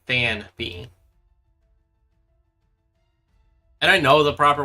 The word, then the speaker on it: Phanpy: Yeah, I don't know why I enunciated as Phanpy, but like it's supposed to be Phanpy.